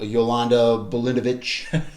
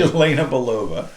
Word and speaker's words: Yelena Belova: We know we're going to see the new Black Widow, Yolanda Bolinovich. Did I butchered that? Obviously, Yelena Belova. It was pretty close.